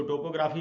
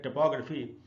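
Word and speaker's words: topography: Option C है टोपोग्राफी। इसको टोपोग्राफी नहीं बोल के सही उच्चारण है टोपोग्राफी, और इसका अर्थ है स्थलाकृति।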